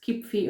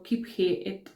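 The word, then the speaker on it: Kyphi: So what is Kipfi or Kiphi? You know, you have different ways of pronouncing this thing.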